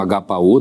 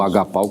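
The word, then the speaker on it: ἀγαπάω: o amor sacrificial é o termo agapao não é o agapo como alguns preferem pronunciar que descreve esse amor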